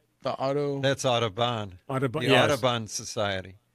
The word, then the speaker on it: Autobahn: The Audubon?